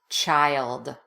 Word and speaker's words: child: Newborn, infant, baby, toddler, preschooler, child. Child can be tricky if you're not using the Y shadow, so be sure you pronounce this Y here. Child, child, child.